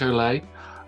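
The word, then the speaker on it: Olié: fraser he has rick o'lay um i had a bit of a debate with ben about how you pronounce that i'm pretty sure it's olay and if it's not it's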